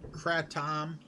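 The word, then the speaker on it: kratom: come through here no I've never tried Kratt tom that's how you say it I've had a lot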